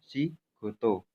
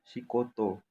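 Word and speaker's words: 仕事: Jadi bacanya si goto, bukan si koto, seperti itu.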